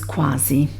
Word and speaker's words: quasi: um and pronounced as quasi but um the pronunciation is quasi okay it means almost recently a person a